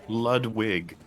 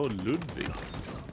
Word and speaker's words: Ludwig: about ludwig it's pronounced ludwig no ludwig no it's sweden you know it's english mud wig idiot idiot ludwig it's clearly a w not a v we we have we